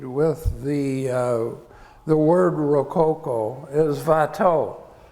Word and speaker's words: Watteau: The artist most associated with the word Rococo is Watteau. I'm using the Flemish pronunciation because he was actually a Fleming, and he was very much influenced by Rubens.